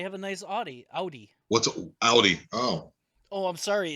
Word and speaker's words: Audi: It's supposed to be pronounced Audi because it's German, and AU in German is Au.